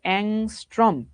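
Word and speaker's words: ångström: দেওয়া আছে 7000 অংস্ট্রম এটার উচ্চারণ হইতেছে অংস্ট্রম এ তরঙ্গ সংখ্যা এই কাচাবাচারা তরঙ্গ সংখ্যা মানে কি বুঝায়?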